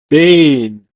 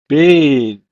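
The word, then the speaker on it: בין: In Hebrew, it's pronounced as bain, bain.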